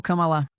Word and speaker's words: Kamala: Então me lembro dela colocando a ênfase na segunda sílaba. Então foi como camalá. Camalá. Camalá era como ela pronunciava. Não camala. Não camalá. Camalá é na verdade como os indianos pronunciam.